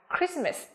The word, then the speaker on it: Christmas: Và từ thứ ba đọc là Christmas nhá. Lưu ý không phát âm là chờ như là chaos này, hay là chorus, hay là Christmas nhá, mà phải là gì? Chaos, chorus and Christmas.